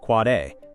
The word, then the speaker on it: AAAA: A IPv4 address, AAAA IPv6 address, pronounced quad A, NS, authoritative name server, MX, mail exchange record.